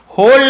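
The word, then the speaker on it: whole: उसे पछतावा हुआ कि होल नाइट, ठीक है, होल नाइट यानी पूरी रात, यहाँ पर डब्ल्यू साइलेंट है लेकिन लिखते हैं होल नाइट, पूरी रात, बाय सेइंग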